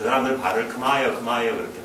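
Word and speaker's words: ខ្មែរ: 과연 그러니까 이 캄보디아를 만든 그 크메르족 그 사람들 발을 크마이어 크마이어 그렇게 발음해요. 우리가 크메르 크메르 같은 크마이 크마이어 그런데 그 사람들의 역사예요.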